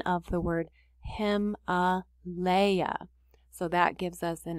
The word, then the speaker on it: Himalaya: again guys they helped us out with this pronunciation of the word him a leia so that gives us an idea of how